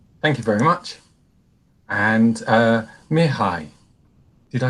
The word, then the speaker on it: Mihai: And Mihai, did I say that right again?